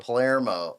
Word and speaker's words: Palermo: at sometimes yeah how do you say your last name on Palermo Palermo that's how I was gonna say it I want to [